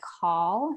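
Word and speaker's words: caul: decorated with jewels and then they wore what's called a call so it's c-a-u-l i hope i'm pronouncing that correctly um but it essentially was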